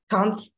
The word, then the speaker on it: Costoni: The police actually showed up, I believe it was the Bethel AME Church, looking for, how do you pronounce his name, Rachel? Costone?